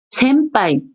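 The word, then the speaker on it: 先輩: 센빠이 편하게 발음하시면 돼요.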